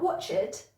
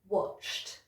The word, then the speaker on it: watched: With our next set of words, the problem comes at the end because it should be a T sound, not an extra syllable. Let me show you what I mean. So we've got watched, not watched, watched. And stressed, not stressed, stressed. And then stopped, not stopped, stopped.